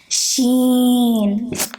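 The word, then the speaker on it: شين: Sheen. First there's the sh sound, and then the ya sound, and the noon sound.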